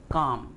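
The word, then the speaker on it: calm: यहाँ L silent है, हम इसको प्रोनाउंस करेंगे काम.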